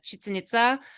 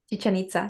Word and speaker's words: Chichen Itza: really throws me off, like I went to Chichen Itza. Am I saying it right? Chichen Itza? Chichen Itza.